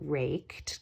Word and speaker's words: raked: It sounds like a T.